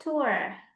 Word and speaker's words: tour: Ini dibacanya tour. Jadi O-nya tuh nggak terlalu tebal gitu lah sis. Tourist Oh, attraction. turis gitu ya? Iya, tourist. Tour, Tetap ada O-nya tapi tipis aja.